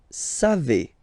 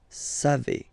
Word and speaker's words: savez: Then vous savez. Classic ending for vous, E-Z, but then phonetically it's E. Vous savez. Savez.